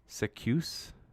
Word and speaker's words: Zacuse: Literally the letter Z in the word goose, but a C instead of G. So I guess it must be Zacuse.